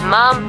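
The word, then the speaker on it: Ma'am: majesty and thereafter is mom pronounced name with a short ah as in jam from the 21st of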